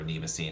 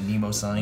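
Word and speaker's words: Mnemosyne: around no massa D or NEMA scene however you prefer to pronounce it Nemo sign name is sign it's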